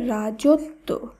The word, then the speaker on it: রাজত্ব: শব্দটি শুদ্ধ উচ্চারণ অশ্ব রাজত্ব এখানে রয়েছে ত এর সঙ্গে বয় ফলা যুক্ত তাই এখানে ত এর উচ্চারণ দুইবার হবে তাই শব্দটির উচ্চারণ হবে রাজত্ব একইভাবে বিদ্যান এখানে রয়েছে